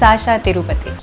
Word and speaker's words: Shashaa Tirupati: Which is the right way to pronounce? It's Shashaa Tirupati.